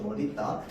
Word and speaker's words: 멋있다: 얘도 원래 발음은 멋있다가 돼야 돼. 맞죠? 멋있다. 그런데 이제 멋있다도 되지만 멋있다도 됩니다. 맞죠? 자, 그래서 얘는 둘 다 허용이다 라는 거 좀 알아만 두면 됩니다.